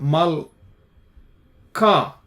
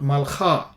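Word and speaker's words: מלכה: Mal ka, this is ka, not kha, because there is a dagesh inside. Remember the begad kefat letters. This is melech, this is malka, not malcha.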